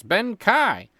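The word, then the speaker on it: Bendii: who's been Afflicted with benai sounds like Ben Kai and spelled with two eyes see I told you Ben Kai was spelled right no dunk it's Ben Kai say it right next time Mr dundy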